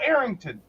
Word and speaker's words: Arrington: start by telling people put an H in front of it and then you'll know how to say it right because that usually covers a large demographic of people in the U.S and they're like oh Arrington um meanwhile you've uh face